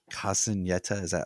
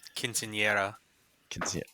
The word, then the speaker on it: Quinceañera: But Sarah is having her Casineta. Am I pronouncing it? Quinceañera.